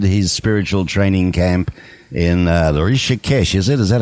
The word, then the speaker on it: Rishikesh: That in 68, they visited his spiritual training camp in Rishikesh, is it? Is that how you pronounce it, in India? Right, in Rishikesh, yes.